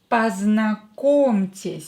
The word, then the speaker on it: Познакомьтесь: Познакомьтесь. So, O, not stressed, we pronounce it as A.